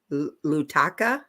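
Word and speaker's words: Lautoka: know I'm gonna love this up so I'll spell it to you it's l-a-u-t-o-k-a nutaka lutaka yeah yeah okay is this also part of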